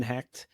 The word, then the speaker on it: Hecht: Once again, my name is Hackt. I'll spell it, h e c h t.